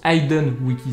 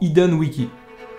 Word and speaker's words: Hidden Wiki: Et arrêtez de me dire dans les commentaires que ça se prononce Hidden Wiki, s'il vous plaît. Parce que ça se prononce vraiment Hidden Wiki.